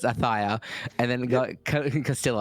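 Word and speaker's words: Ayutthaya: How do you pronounce that one, Jif? Ayuthia? Ayuthia? Yeah. We're going to work for production. It's Athia.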